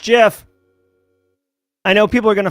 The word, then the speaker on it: GIF: directory do a gif it's pronounced Jeff I know people are gonna fight me right now but it's pronounced Jeff all right here we